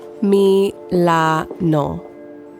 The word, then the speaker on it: Milano: I love the way it sounds. Milano. 3 perfect syllables.